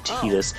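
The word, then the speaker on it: Tidus: that and you know people call them tedious or official pronunciation being tedious I don't care about official pronunciation I call them Titus because this the real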